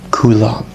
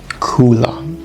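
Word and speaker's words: coille: love that word and in scottish gaelic kula kula the emphasis on the first bit cooler and you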